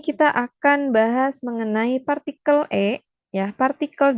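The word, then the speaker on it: へ: Nah, ditulisnya itu he ya, ini huruf he hiragana ya, tapi dibacanya E ya.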